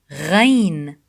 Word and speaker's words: غين: غين غ غين غ. The غين sound, it's very close to the French R sound. غ غ غ.